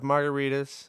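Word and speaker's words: Margaritis: the quick rundown of margaritas if we're saying that your name right I'm sorry yeah no you say it right you say right imagine like a cocktail Margarita but with this in the end all right well what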